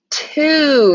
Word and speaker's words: two: This is the tricky word two. This is how we spell it when we are writing out two as a number. So we have to know T-W-O, even though it sounds tricky and we can't sound it out, that we see